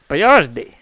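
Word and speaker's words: Boiardi: Ettore, quotations Hector Boyardee, spelled totally different from the canned ravioli. Well, yeah, we had to Americanize it, like Boy-R-D. Yeah, we literally spelled it Boyard and E-E, and his name is spelled B-O-I-A-R-D-I. Boyardi.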